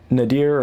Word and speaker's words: NadIR: but you can get this nadir or nad IR and depending on which way you want to pronounce that you can get this